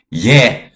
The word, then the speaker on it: Je: This is the yeah, not J. J is an English pronunciation that obviously is modern and new. So I'm going to use the yeah, okay, the yeah pronunciation, which was truly how it was.